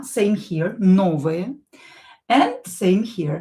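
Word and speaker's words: новая: Same rule here, o not stressed will be pronounced as a. Same here, novaya.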